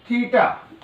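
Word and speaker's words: theta: थीटा, इसको pronounce कैसे करते हैं?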